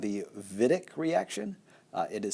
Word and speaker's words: Wittig: to be called the vidiq reaction it is spelled wittig but it is a German name therefore it's pronounced davidic I'm going to